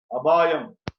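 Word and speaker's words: அபாயம்: Apayam. We say the pronunciation is a little different. Abayam.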